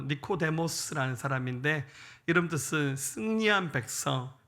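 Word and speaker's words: Νικόδημος: 헬라시 발음으로 니코데모스라는 사람인데 이름 뜻은 승리한 백성, 백성의 정복자.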